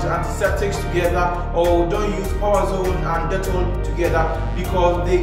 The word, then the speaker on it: Powerzone: Majority of people even mispronounce it as Powerzone. It's Powerzone.